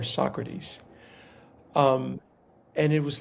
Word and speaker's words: Socrates: of the table readings he was pronouncing Socrates uh as Socrates. And so uh during a break, Quincy pulled him aside according to this person um and said, "Hey, um you know, we don't pronounce it so great. We pronounce it Socrates or Socrates."